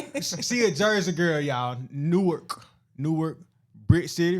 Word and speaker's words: Newark: I'm from Newark, New Jersey.